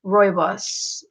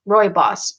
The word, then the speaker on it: rooibos: yeah I can imagine it's pronounced Roy boss Roy boss okay so I was